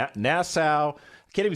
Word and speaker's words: Nassau: three-day cruise out of miami we went to nasa nassau i can't even say the name correctly nassau